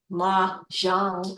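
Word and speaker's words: Mahjongg: all about so with the how do you pronounce that word it's Maran maang m a h j o n g g maang it's a chines maang yes Chinese okay so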